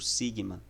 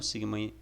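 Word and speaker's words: σίγμα: e o som e a pronúncia dela é como se fosse um S em português mesmo, é exemplo disso na palavra saúde.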